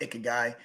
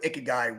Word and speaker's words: ikigai: the term called guy I think it's pronounced icky guy if you're not familiar with ikigai what that term actually